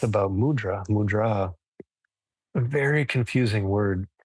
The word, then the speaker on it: mudra: means in this context the word mudra the emphasis goes on the second syllable it means seal and